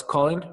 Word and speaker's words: Colin: French investor called well the sort of English pronunciation is Nicholas Cen um but he saying it's Nicholas Colin um so and well Nicholas c o l